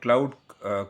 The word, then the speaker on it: Claude: அதுதான் வந்து க்ளவுட் கோடுங்கிறது. Okay, R கிளாட் கோடுன்னு சொல்லலாம். டிஃப்ரெண்ட்டாக ப்ரொனவுன்ஸ் பண்ணுறாங்க.